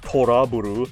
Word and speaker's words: To Love Ru: We get some camel action like we're in a To Love Ru manga page. So I know it's Toraburu, but much like Cybaster, I choose to pronounce it incorrectly.